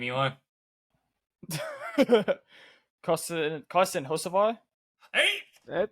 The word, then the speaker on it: Hocevar: I was even trying to overpronounce there. Go ahead and tell me number 22's name, Eli. Carson Hocevar.